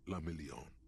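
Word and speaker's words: Le Million: meant only one thing Dion La million if it doesn't rhyme you're not pronouncing it right out of the dazzling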